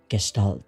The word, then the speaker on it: Gestalt: I'm pronouncing it as Gestalt because that's kind of how it's pronounced.